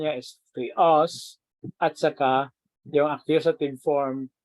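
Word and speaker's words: θεός: siya sa ano sa Greek Hindi po siya theos hindi rin po siya theon kundi ang ah pronunciation niya is theos at saka yung accusative form ay theon okay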